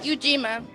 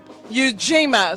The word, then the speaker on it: Ujima: So tell me how do I pronounce it again? Ujima. Ujima.